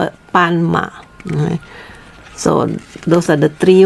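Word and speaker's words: 斑马: zebra we call it pan ma okay remember b sound like a p sound as uh with the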